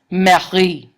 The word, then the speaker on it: Marie: But if you look at my name in French, it's Marie. Same name, but it just has the syllable emphasis reversed.